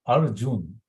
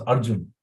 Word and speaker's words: Arjun: He said, you can say R and June, month June, R June. And then Guru Maharaj was happy to see that Dr. Vinay Prabhu's service, that he helped her to pronounce Arjun.